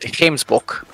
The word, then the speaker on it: Gemsbok: Or as we pronounce it, Gemsbok.